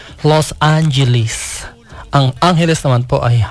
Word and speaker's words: Los Angeles: Ganyan po talaga, sabi ko sa inyo ang pronunciation ng Los Angeles. Los Angeles.